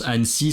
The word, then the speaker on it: Annecy: Alors aujourd'hui, on va vous parler de culture, tourisme, d'une ville française qui s'appelle Annecy. Annecy. Donc on prononce Annecy, ça s'écrit plutôt comme Annecy.